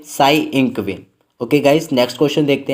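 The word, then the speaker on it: Tsai Ing-wen: तो इसका A option से होगा, साई इंगवेन। गाइस यहाँ पे टी साइलेंट रहता है।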